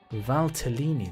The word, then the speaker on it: Valtellini: list now joseph val what's it for valtellini that's how you say it okay cool might as